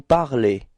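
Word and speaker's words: parlent: Okay, so you don't pronounce this nt, so phonetically you get the same form as for je, tu, and il, elle of the singular.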